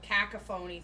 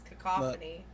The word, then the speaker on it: cacophony: and then you know the whole cacaphony thing and it's cacophony ah cauny I used